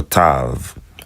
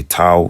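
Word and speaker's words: תו: It's the same thing to or tav. I say tao because I don't really have a I don't have a v sound in the dialects that I choose.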